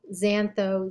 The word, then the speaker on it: xantho: milano mico a nico xantho zero that x is always pronounced as a z for whatever strange reason